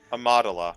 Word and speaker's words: Amidala: Is it possible, So, given the events of the revolution, that Amidala, how you say it again? Amidala. Madala. Yeah, you were right.